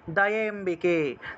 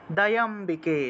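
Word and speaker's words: দয়াম্বিকে: দয়ে এবং অম্বিকে একসাথে উচ্চারণ করবেন, কারণ এই দুইটা এক শব্দ, এই দুইটা এক শব্দ। তাহলে দয়ম্বিকে, দয়ম্বিকে, ঠিক আছে?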